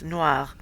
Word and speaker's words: noir: Some of my French, specifically the rolling of the R's, is starting to come back, so it's noir. I don't think I could pronounce it without rolling that.